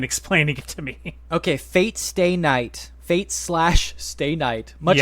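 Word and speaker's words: Fate/stay night: it to me okay Fate Stay Night Fate slash Stay Night much like Hunter Hunter you're not supposed to say the slash uh it's just uh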